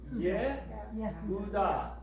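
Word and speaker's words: יהודה: Yehuda. Yehuda. Spell Utah phonetically.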